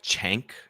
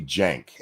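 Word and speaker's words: Cenk: It's technically with a J. Like the Turkish C in that context is a J. Yeah, it's supposed to be Jenk.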